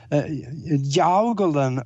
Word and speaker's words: Jiaogulan: And Jiaogulan herb is what it's pronounced.